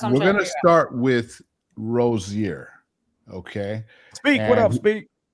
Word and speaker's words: Rozier: Rozier. Rozier.